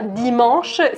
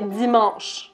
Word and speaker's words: dimanche: mal à prononcer maintenant il y à un z et un ace au milieu donc c'est pas dimanche c'est dimanche dimanche zinédine zidane exactement à mourir alors